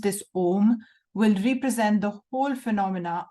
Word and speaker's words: Om: and this is the OM the OM only because these three letters om a u m pronounced in combination as om May well be the